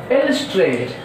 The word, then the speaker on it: illustrate: And now illustrate, here see illustrate, see stress is on second L in the word illustrate.